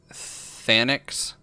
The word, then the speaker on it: Thanix: I know that it's like Thanix, but I've always seen it and pronounced it Thynix.